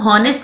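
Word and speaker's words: honest: बच्चों इसको ऑनेस्ट नहीं पढ़ना है। एच साइलेंट होता है।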